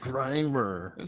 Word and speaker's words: Grimer: greener greiner brandon had to pronounce my last name grimer all right you racist get it right muck crimer it's all pokemons to me dawg how do you not get it right still it's grimer so we know right